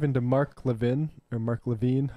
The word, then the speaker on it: Levin: mark levin or mark levine do you know how to pronounce levine levin get out of here yeah exactly uh i've